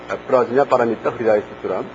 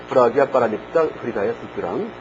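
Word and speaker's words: प्रज्ञापारमिताहृदयसूत्रम्: 프라즈냐 파라미타 흐리다야 수트람. 여기에서 이제 지냐가 읽을 때 지냐를 갖다가 기아 혹은 냐라고 읽는다는 얘기를 했었죠. 그래서 프라기아 파라미타 흐리다야 수트람이라고 읽어도 돼요. 프라기아 파라미타 흐리다야 수트람.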